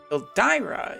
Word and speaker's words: Ildyra: talk about valentine's day el dyra the global pronunciation i always call her eldera if that annoys you